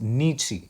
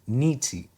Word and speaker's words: Nietzsche: Remember Nietzsche. This is pronounced Nietzsche. Nietzsche.